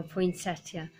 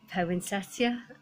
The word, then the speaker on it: poinsettia: could never say I I think I'm saying it right now poinsettia but I used to say poinsettia and my mom used